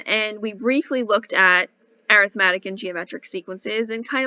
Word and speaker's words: arithmetic: so you know right this word looks like arithmetic but when we're talking about sequences we say arithmetic that's the way to pronounce it all right all right so how